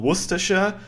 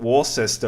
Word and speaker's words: Worcester: You had that place called Worersha. But I'm quite sure that the Americans will not uh pronounce this Worcester, right? This is called Warcester over in Massachusetts, right?